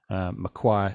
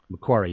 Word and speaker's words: Macquarie: several governors but especially maguire and his divided community swallow macquarie macquarie is how you pronounce it okay sorry yeah go